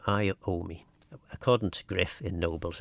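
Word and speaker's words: Iommi: And his name is pronounced Iomi. Iomi. He's from Birmingham apparently. So Tony Iomi is uh is the uh the fell's name. I owe me according to Griff in Nobles anyway.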